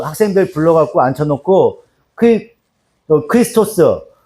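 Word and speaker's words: Χριστός: 헬라어로 얘기하면 어떻게 얘기하냐면 크리스토스라고 읽어요. 크리스토스. 크리스토스라고 읽어요.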